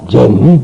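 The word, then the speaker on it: 禪: 그 전이라는 말을 일본 사람과 중국 사람은 전이라고 그러고요. 우리나라 사람만 선이라고 그럽니다. 참선한다 할 때 전에 들어간다. 원 발음은, 인도 발음은 전입니다. 그러니까 중국 사람은 당연히 발음을 취했으니까 전이라고 할 수밖에 없고, 일본 사람들도 오나라 말을 쓰기 때문에 오음을 쓰기 때문에 전이라고 하는데, 우리나라는 우리나라 발음을 쓰니까 선이라고 말한다.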